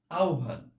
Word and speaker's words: আহ্বান: উচ্চারণ হবে আহ্বান। আমরা যখন এরকম ভাবে হ এবং ব, একটু খেয়াল করো, হ এবং ব এরকম ভাবে যুক্তাক্ষরে দেখতে পাবো, তখন সব সময় সেটার উচ্চারণ হবে ও এবং ভ, এইভাবে আমরা উচ্চারণ করতে হবে।